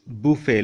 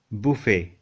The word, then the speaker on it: buffet: So this is buffet. Look at the spelling. Buffet. Buffet.